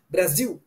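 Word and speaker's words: Brasil: Parce que au Brésil, les ailes qui sont dans la position finale, on fait you, Brésil. Mais en Portugal, ça, il faut prononcer le L, Brésil, comme en français, Brésil.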